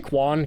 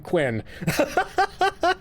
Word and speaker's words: Quinn: Did I say Quan? Quinn, you you were literally just like, "Oh, you got my name right and then I mispronounced it."